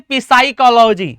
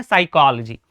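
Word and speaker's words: psychology: इस वर्ड को हम क्या पढ़ते हैं? पिसाइकोलॉजी। है ना? पिसाइकोलॉजी तो ऐसा नहीं पढ़ते। क्यों सर? क्योंकि पी साइलेंट है। रूल क्या कहता है? एस से पहले पी। एस से पहले पी कभी आ जाए तो वो साइलेंट हो जाता है। जैसे आपने कहा साइकोलॉजी। ठीक है? इसको क्या पढ़ते हैं? साइकोलॉजी।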